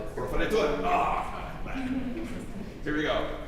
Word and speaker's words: proferetur: I'm adding an extra syllable. Liber Scriptus, Proferetus. Proferetur.